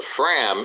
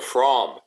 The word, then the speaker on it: Fram: as another thing the the proper pronunciation of the fram is the from it's it's just i